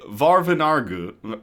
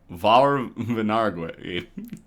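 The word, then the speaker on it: Vauvenargues: From Luc de Clapiers, Marquis de Vaurvenargues. Vaurvenargues. It's French.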